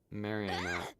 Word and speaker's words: Marinette: Marinette was apparently just pronounced Marian, but it appears